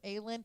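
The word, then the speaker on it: Aelin: Lena is just way too like said her name wrong because the camera say it right. Thank you. Ailen is way too much of a [ __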